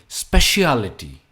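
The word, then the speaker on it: speciality: Next, सुनने में या दिखने में काफी आसान है, पर इसकी प्रोनाउंसिएशन है स्पेशियलिटी। स्पेशियलिटी, स्पेशियलिटी। Try saying after me, स्पेशियलिटी। अ पे इसका स्ट्रेस आता है, स्पेशियलिटी, स्पेशियलिटी। Next occupation.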